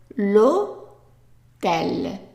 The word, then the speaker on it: hôtel: The H is silent, underlined silent, meaning that we're just gonna read the L-O-T-E-L. So l'hôtel. And remember the O in English is just O. So it's l'hôtel. Okay?